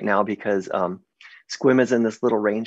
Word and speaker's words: Sequim: It's called Squim. Most people look at that name and they pronounce it Sequim, but it's Squim.